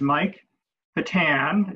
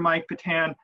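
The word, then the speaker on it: Patin: His name is Mike Patan. It's spelled P-A-T-I-N.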